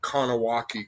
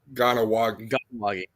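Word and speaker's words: Kahnawake: He said, you know, it's not Kowaki, Quebec. It's uh Ganowagi. Says K's or G's when it comes to indigenous.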